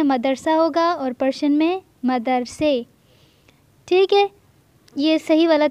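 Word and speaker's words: مدرسه: مدرسے، مدرسے یعنی مدرسہ۔ تو ایک بات آپ لوگ یہاں پہ نوٹ کر لیں کہ جس بھی چیز کا تلفظ آخر میں الف ہم لوگ اردو میں پڑھ رہے ہوں تو وہاں پہ الف نہیں پڑھا جائے گا بلکہ یہ لگایا جائے گا، یہ کا تلفظ ہوگا۔ جیسے اردو میں ہے مدرسہ لیکن پرشن میں ہم اسے پڑھیں گے مدرسے۔ اسی طرح اگر کسی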